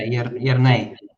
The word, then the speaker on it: Jernej: So, Jernej, is it well pronounced? Yeah, Jernej. Yeah. Jernej, okay.